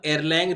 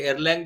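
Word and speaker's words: Erlang: of available channels one एयर लैंग represent the amount of traffic देखिए एयर लैंग जो मैं कह रहा हूं दैट इज उसकी स्पेलिंग है ई आर एल ए एन जी एसे तो वन एयरलंग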